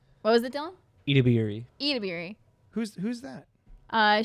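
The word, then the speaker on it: Edebiri: Uh, overall, what was uh I always say her name wrong and I feel so bad. Ao Adbury. What was it, Dylan? Ediri.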